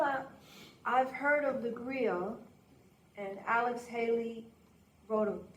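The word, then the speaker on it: griot: poet what you did is called Grill even though it's spelled g-r-i-o-t and the grill you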